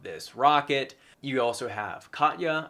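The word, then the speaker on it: Katje: You also have Katya, I believe is how it's pronounced in Dutch.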